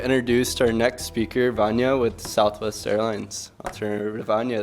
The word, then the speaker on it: Vanya: to our next speaker vanya with southwest airlines alternative anya thank you awesome thank you very much thank you everyone good afternoon my name is vanya and it rhymes with lasagna that means i've spoken